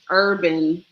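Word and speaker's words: Herban: what I love that it's it's Urban I mean I come from it's Urban but it's spelled h-e-r-b-a-n so herb oh there you go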